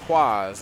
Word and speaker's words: Kwaaaaz: It's father-son bonding, getting ready to face off against Kwaaaaz, okay? And I say it exactly how it's spelled.